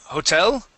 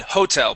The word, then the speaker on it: hotel: No, you had said hotel. Putting the accent at the very beginning. Okay. The accent goes at the end. The word is hotel.